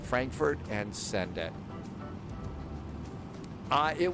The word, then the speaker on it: Frankfurt: I don't think you roll your R on that. Frankfurt and send it.